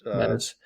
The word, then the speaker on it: Metis: Yeah, I mean it's Metis. I'm just going to make a general principle on this podcast that if I pronounce something and then Dr.